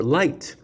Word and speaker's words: light: using certain words and it's silent like the word laugh which is spelled l-a-u-g-h yeah or light l-i-g-h-t the g is silent the letter is g